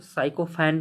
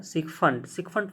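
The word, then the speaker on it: sycophant: मतलब होता है कि देखो इसको साइकोफैंट मत बहुत लोग पढ़ते हैं। ठीक है जो पढ़ते हैं, देखो ठीक है जो समझ में आ जाए ठीक है, लेकिन कोशिश करनी चाहिए कि सही प्रोनाउंसिएशन किया जाए। थोड़ा कठिन होता है लेकिन करना चाहिए। इसका सही प्रोनाउंसिएशन होगा सिक फंट मतलब होता है कि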